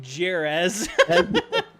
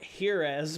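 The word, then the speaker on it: Jerez: uh herth yeah yeah I called it jerz it's hor yeah I I got I got grilled for that one so I could have called it like heres but I feel like that would have been worse but i i j didn't know I didn't know um like um Spain you know European Spanish was uh the Z was a th sound it isn't always I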